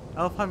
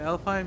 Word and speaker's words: Alfheim: Alpheim awaits a long and difficult journey. The training ground of Niflheim holds secret rewards. Superheim may hold unfinished business. Choose carefully. Is it Alfheim? Yeah, that's Alfheim.